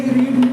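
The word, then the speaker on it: read: लेकिन इनका उच्चारण अलग है। इसको रेड बोलेंगे। इसकी रेड बोल कैसे बोलेंगे? रीड रेड रेड।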